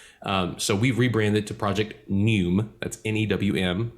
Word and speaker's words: NEWM: that we have, and it's spelled N-E-U-M-E, but the pronunciation is the same, NEWM, right? So our play on that is new, N-E-W-M, like new media, new music, right?